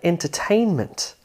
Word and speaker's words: entertainment: Take a 4-syllable word like entertainment. The third syllable has more stress than the other syllables in this word.